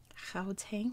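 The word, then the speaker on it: Gauteng: free state northwest um it's pronounced chao tang i think i think that's how you say it correctly oh my gosh you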